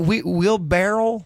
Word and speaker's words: wheelbarrow: Wheelbarrow.